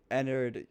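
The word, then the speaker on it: Ennard: which was Enard um Enard also rhymes with Edwin so that's kind of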